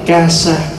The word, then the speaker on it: kasa: giải thích một chút trà sa đọc đúng là Casa chữ Casa là tiếng